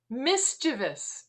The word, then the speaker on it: mischievous: Mischievous is how it's said. Mischievous. Mischievous sounds much more mischievous than mischievous. I actually mispronounced hyperbole giving a speech and was corrected on stage.